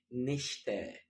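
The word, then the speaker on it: Nächte: يعني أنا لسه كنت بقول نخت، حط الأملاوت هتبقى نشتا، نخت، نشتا.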